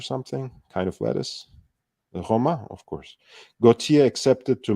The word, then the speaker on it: Roma: used the eponymous numerals in French is pronounced Homa um I guess the Americans pronounce it What Remain like the salad or something kind of lettuce the Roma of course gotia accepted